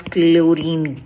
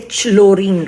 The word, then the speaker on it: chlorine: For chlorine, we don't say chlorine, right? So the H is silent.